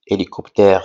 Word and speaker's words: hélicoptère: exemple hélicoptère alors ici hélicoptère s'écrit d'abord avec la lettre H h est une lettre muette c'est-à-dire ne se prononce pas alors on dit hélicoptère et pas hélicoptère que fait le garçon